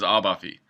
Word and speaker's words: Abaffe: your last name it's abafi or abafi they would my grandfather says abafi so that's I guess how it's supposed to be pronounced okay well so now